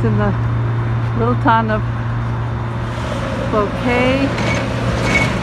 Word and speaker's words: Cloquet: the little town of bouquet minnesota spelled like croquet only with an l i don't know how